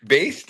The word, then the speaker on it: Baest: So, Baest, is it? Yeah, I think that's a very good pronunciation.